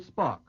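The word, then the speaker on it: Spaak: minister of Northern Ireland uh three Paul Henry Spock s-p-a-a-k is the way uh that's spelled he's a big shot in Belgium yes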